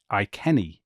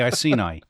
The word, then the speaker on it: Iceni: I noticed that you pronounced it Iceni in the last episode. And I looked it up, and you're quite right. I am. Thanks, Dominic. But everybody in England will call it the Iceni.